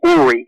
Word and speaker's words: Uri: Now, first of all, can I call you Uri? Of course. The actual pronunciation of my name is Uri. Uri. Uri is a Hebrew name.